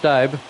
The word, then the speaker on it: Stieb: It's pronounced Stieb.